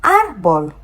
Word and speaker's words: árbol: Here, because there's an accent, that rule is broken. Now we are going to put the stress wherever we are seeing the accent. And we are going to get the sound árbol. Árbol.